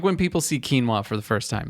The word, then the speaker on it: quinoa: exactly and people are like uh ki quin qui noah quinoa and it's like there are commercials made